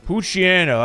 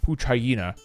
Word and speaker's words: Poochyena: Poochyena, as I like to pronounce it, or I think it's called Pooch Hyena.